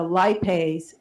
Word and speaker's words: lipase: Is it lipase?